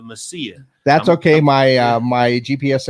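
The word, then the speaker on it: Mesilla: for saying Masilla sometimes instead of Messia.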